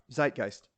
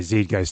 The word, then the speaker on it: Zeitgeist: just out there and part of the uh Zeitgeist one of my favorite words which I now know how to pronounce correctly I think I used to say Z guys too dude yeah I've just I've just in